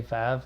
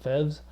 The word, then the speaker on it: Feves: fev town was us know how to say fav we had we said fevs because it's spelled in English and we're ftic sort of folk and that's as close as we got now